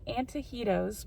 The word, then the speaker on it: Antojitos: we're really coming here anyway we're going to antahedo's which is i looked it up on how